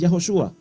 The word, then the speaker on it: Yahoshua: Hemos conocido que la pronunciación hebrea más antigua es Yahoshua, mientras que la pronunciación aramea es Yeshua, o de origen arameo.